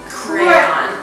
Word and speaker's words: crayon: on my head Crum it's crayon crayon great there's two syllables that you should be